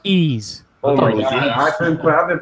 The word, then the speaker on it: Ys: how it actually supposed to be pronounced it's pronounced ease I've been I've been pronouncing that thing wise since day one I was calling it ye